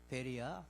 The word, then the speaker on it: 베레아: 거기는 베레아요. 여기는 베레요. 이게 좀 헷갈릴 수 있어. 여기는 베레아. 요단 동편 세리완이 사회가 된 그 지역은 베레아. 발음 잘해야 돼.